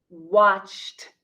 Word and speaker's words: watched: The pronunciation is worked, or here, watched, watched. So the word watch has one syllable. The past tense watched has one syllable. It is not watched. It is watched.